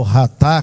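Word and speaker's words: חטא: também que esta palavra chatá no hebraico, né, ou ratá, como se pronuncia corretamente, é ratá que se pronuncia, embora se escreva chatá, né, ela abrange não apenas errar o alvo, mas deliberadamente acertar alvo errado.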